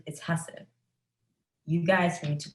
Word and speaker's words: Hussein: okay and he said my name is hussein it's pronounced hassan and i was like okay it's husson i've just been pronouncing it wrong my entire life but everyone else was